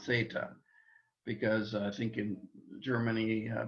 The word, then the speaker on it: theta: their fourth new letter theta the th sound for thin uh theta uh unless you're learning greek and germany in which case you would say zeta and not theta because i think in